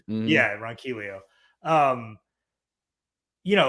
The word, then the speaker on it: Ronquillo: Always say his name like the Spanish way, but The rolled L, yeah. Yeah, Ronquillo.